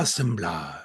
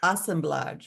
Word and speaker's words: assemblage: Assemblage. Assemblage, okay.